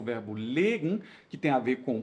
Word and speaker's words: legen: Assim como nós temos o verbo legen, cuidado com a pronúncia, que é e aqui é i.